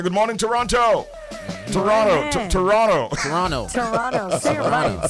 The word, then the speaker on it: Toronto: going to be having a big show in Toronto on the Saturday night, which is why we